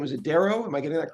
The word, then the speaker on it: Darroh: His name is Stephen, and his last name is Darrow. Am I getting that correct? That's exactly right. Darrow rhymes with arrow. Darrow does rhyme with arrow, and we are happy Hmm.